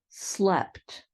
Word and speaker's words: slept: are all verbs where that long e sound changes to a short e sound and then you add a t at the end so sleep slept keep kept mean and